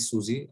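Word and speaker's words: SUSE: सिस्टम है that is सूजी और सूजे मतलब कु सूज अलग-अलग वे से प्रोनाउंस किया जाता है उसको डिपेंडिंग अपॉन तुम कहां प से और किससे बात कर रहे हो यूएस वाले से बात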